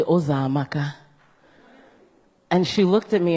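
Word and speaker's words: Uzoamaka: And I would have teachers or anyone, neighbors, try and say my name, and it would be Azumeka, Uzamaka, Uzokuza, any version that they could think of other than Ozamaka.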